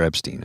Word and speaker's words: Epstein: Or Epstein, I guess. That's the pronunciation in the U.S. Epstein.